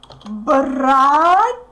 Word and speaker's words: братья: Братья. Again, we separate these letters. Братья. Братья.